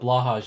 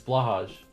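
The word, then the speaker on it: Blåhaj: It's pronounced like blow high? Wait, what is? Oh, I know. Yes, I'm aware. I'm aware I'm saying it incorrectly. But Blahage is funner to say. I'm absolutely aware I'm saying it wrong.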